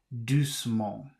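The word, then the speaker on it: doucement: two is d-o-u-c-e-m-e-n-t so you don't have to pronounce this e because it has vowels it doesn't three consonants don't come up against each other so that should be do small do small I don't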